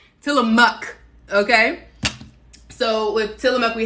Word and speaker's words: Tillamook: mook not well no not tell them muck i'm saying see i'm saying it wrong til a muck okay so with tillamook